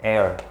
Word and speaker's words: heir: 그 다음에 이 air라는 표현도 좀 알아두시고, air. H가 묵음이죠.